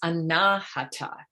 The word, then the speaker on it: Anahata: And the heart's name is Anahata, and that is how it's pronounced. If you say Anahata, you mean struck, whereas Anahata means not struck, not hurt.